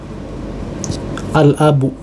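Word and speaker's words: الأب: Jadi huruf qamariyah adalah huruf ya, huruf yang padanya diucapkan dengan sukun ya, pada huruf lam ya, dalam kurung al-qamar ya. Jadi contohnya adalah misalnya seperti ya, Contohnya itu adalah seperti al-abu, ya.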